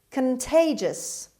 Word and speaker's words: contagious: foreign word number eight contagious contagious contagious the stress is on t sound on t second syllable contagious means spreading by